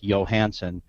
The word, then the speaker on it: Johansson: the Americanized version uh but it can be pronounced with the Y like Johansson but most Americans ped pronounce it Johansson so that's that's what